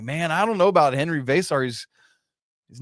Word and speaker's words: Henri Veesaar: Henry vasar.